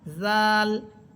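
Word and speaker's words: ذال: খল দাল জাল জাল এই হরফটা অনেকটাই নরম করে পড়বেন। এর মাখরাজ হচ্ছে জিহ্বার অগ্রভাগ সামনের উপরে দুই দাঁতের আগের সাথে লাগবে। জাল এরপরে হরফ র যা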